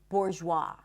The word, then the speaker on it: bourgeois: The S is silent in debris, not debris, debris, and also in the word bourgeois.